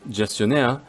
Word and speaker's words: gestionnaire: In this case, the G is pronounced with a G sound if the next letter is an A, O, or U, so you get the other sound if there's an E or I. Therefore, gardiennage because of A, and gestionnaire because of the E.